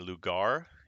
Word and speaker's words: lugar: pleasant thing so again instead of saying lugar it is an r is like a little d and we'll talk about